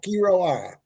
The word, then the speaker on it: Quiroa: David, how was my pronunciation? You did fairly well. Fairly well. Good evening, everybody. Quiroa. How's that? Quiroa.